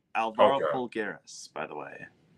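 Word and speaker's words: Alvaro Folgueiras: So Alvaro Fulggeras, that's how it's pronounced. Alvaro Fulggeras, by the way.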